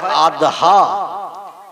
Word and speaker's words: আদহা: এটা আরবি ভাষায় বলা হয় আদহা।